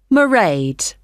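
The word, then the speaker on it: Mairead: see my assistant married sorry how do you spell that it's m a i r e a d merade okay got that it's not a name I'm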